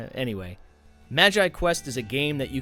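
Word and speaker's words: MagiQuest: that brings us to Magi Quest which for years I was incorrectly pronouncing as magic Quest cuz doesn't that make more sense like magic anyway Magi Quest is a game that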